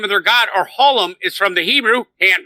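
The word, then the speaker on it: העולם: Ha'olam is the pronunciation of the Hebrew word.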